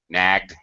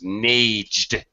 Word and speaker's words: nagged: just a side note, we have to double the consonant. Nagged. Nagged. If we didn't, okay, this is wrong, but if we didn't, if I wrote just N-A-G and then E-D, this would be very wrong. If I saw this, I would think this was, didn't know. I would think that this word is naged because, okay, for example,